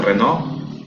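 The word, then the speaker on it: Renoir: que podemos decir reno se escribe reno ir pero creo que se pronuncia renault es uno de los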